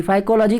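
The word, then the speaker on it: Phycology: फाइकोलॉजी की spelling ध्यान से देखिएगा, जैसे आप साइकोलॉजी पढ़ते हैं उसी तरीके से यहाँ पे पी साइलेंट रहता है, PHY, ध्यान रखिएगा।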